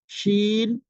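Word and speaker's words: ش: তিনটা উচ্চারণ, তিনটা অক্ষরের উচ্চারণ কাছাকাছি। সেটি হচ্ছে জিম শিন ইয়া, জিম শিন ইয়া।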